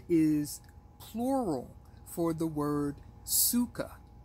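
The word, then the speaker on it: sukkah: Hebrew language it is plural for the word Suka spelled s u k k a or sometimes it is spelled c k k ah just like sukot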